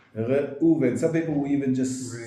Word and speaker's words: Reuven: Okay, so actually in English it's R-E-U, but in Hebrew the E is very, very short. Re-u-ven. So it's not Re-u-ven, but it's Re-u-ven.